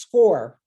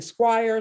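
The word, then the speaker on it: Scoir: now i'm going to talk about score it's pronounced score people are saying squire square it's pronounce score okay this is the platform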